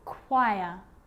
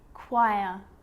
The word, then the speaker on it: choir: occasions it's not pronounced the H is silent so it's choir choir echo echo with a